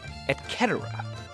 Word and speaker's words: et cetera: Gladiators chariot races Etc or should I say at Keta Latin didn't have a k the C was the